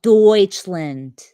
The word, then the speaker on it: Deutschland: And speaking of Germany, can I just say, why is Deutschland called Deutschland when there's already a Dutch land? Huh? It's Deutschland.